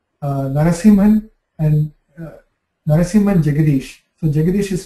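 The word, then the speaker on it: Jegadeesh: So Jagadish is spelled J-E-G-A-D-E-S-H.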